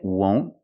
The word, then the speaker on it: won't: The second, won't, use a long O sound, O, won't.